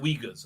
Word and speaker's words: Uyghurs: They're pronounced Uyghurs.